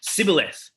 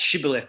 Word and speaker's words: shibboleth: And if he was from Ephraim, he would say Sibboleth. So that's different if you didn't hear that on Zoom. It's supposed to say SH, Shibboleth, but he would say